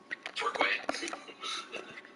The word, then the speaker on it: Torquay: You mentioned the other week, and I think the Agatha Christie segment, we would pronounce it tour, as a tour bus in key, Turkey.